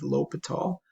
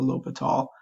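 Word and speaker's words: L'Hôpital: introduced it and again pronunciation on that is lopat all it's a lot of stuff going on in that particular name that's just an individual's last name so lopat all is the last name of a mathematician I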